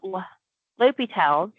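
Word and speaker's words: L'Hôpital: is the same thing if we use L'Hopital's, which is spelled L'Hospitals.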